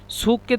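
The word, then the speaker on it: سوق: সুককে তারা সু বলে মানে কফকে হামজা, এই জন্য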